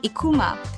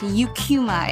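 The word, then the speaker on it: Eucheuma: And I I would hear Japs pronounce the name of the seaweed species as Ekkuma. The scientific name is pronounced Yukuma in English.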